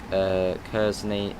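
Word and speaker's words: Kearsney: Pronounced Kersney.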